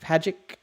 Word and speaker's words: Pagic: Zach Pagic. Rhymes with magic.